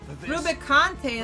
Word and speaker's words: Rubicante: Rubicante, that's how you say his name.